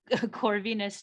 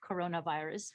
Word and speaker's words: Corvinus: She lectures at Budapest, and I had to not mispronounce this, Budapest Corvinus, not coronavirus, University in Hungary, and at the University of Tel Aviv in Israel on courses on valuation, competition economics, and economic regulation.